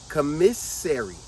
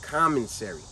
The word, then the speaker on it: commissary: Commissary. Commissary. Commissary. But they all pronounce on the street in jail. commentary. It's not like that.